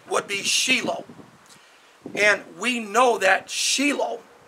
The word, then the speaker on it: Shilo: Sheila now in the West Christians would say Shiloh but the proper Hebraic pronunciation would be Sheila and we know that Sheila was where the